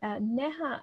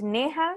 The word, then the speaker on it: Neha: um scroll down okay neja and did i pronounce your name correctly hey everyone um it's pronounced neha so you're close enough um yeah so hi